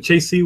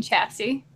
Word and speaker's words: chassis: got assemble that but I got the the Chasey which is important chassis chasis how do you pronounce that I don't know but anyways it's gonna be a sweet orc looted battle wagon I'm assuming you mean chassis chassis yeah I think that's what I said